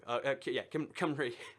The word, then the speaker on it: Cymru: Cymru.